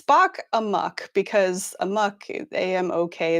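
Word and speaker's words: Spock Amok: it's difficult so it's spock a muck because a muck am ok is usually a muck right um it feels like it should be pronounced spock a mock but it isn't uh so that's their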